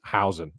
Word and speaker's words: Huijsen: It is pronounced Huijsen. So from someone who is indeed Dutch. So I'm going to go with that. That is how you pronounce his name.